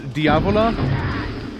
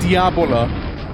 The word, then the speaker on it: Diavola: Another one I liked was Diavola. So it's like called Pizza Diavola, but I remember I used to like mispronounce it. And I called it Pizza Diabola. And my dad just looks at me like, this pizza has nothing to do with the devil. This is not Pizza Diabola, it's Pizza Diavola.